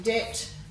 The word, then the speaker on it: debt: In these bottom ones, we've got a silent B in debt, doubt, subtle, succumb, and in yacht, we've got